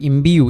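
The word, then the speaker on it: imbue: That is ওয়াই এটার উচ্চারণ কি হচ্ছে? ইউ এর মতো হচ্ছে।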